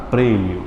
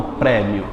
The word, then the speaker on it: prêmio: não seu e e o acento circunflexo famoso Chapeuzinho é para dizer que a vogal é o quê fechada fechada prêmio e não prémio lá em Portugal é